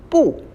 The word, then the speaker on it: 不: But when you pronounce this character by itself, it's a falling tone. So 不 means no.